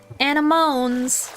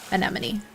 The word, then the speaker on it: anemone: Shout out to other people who also called C anemmones anamones before you knew how to pronounce that word. I think the little mermaid to be fair did provide me the education necessary to know how to pronounce the word anemone.